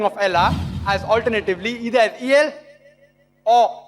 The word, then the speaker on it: Allah: it's their language similarly we know how to pronounce correctly Allah they say Allah is there no problem right